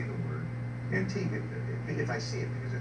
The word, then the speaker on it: Antigua: Antigua, if I see it, because it's spelled G-U-A, but it's pronounced Antigua.